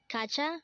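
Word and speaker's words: 가자: Again, Kacha means let's go. Next word is Kapshida. Again, this is pronounced as Kapshida, and this is another way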